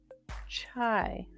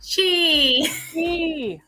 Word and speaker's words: Chi: Welcome our guest, Chai. I think I said that wrong. I'm sorry. Did I say it wrong? Chi, like, I'm not sure where. like the energy.